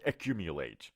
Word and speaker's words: accumulate: ببینید تلفظ که شد accumulate. اوکی، accumulate. late ها، نگین let.